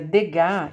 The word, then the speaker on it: Degas: O Degas, escreve Degas, mas a gente pronuncia Degas, ele é conhecido como o pintor das bailarinas.